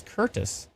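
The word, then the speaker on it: Courtice: pronouns Curtis oh Curtis cortis is Curtis see I never knew that's fantastic somebody actually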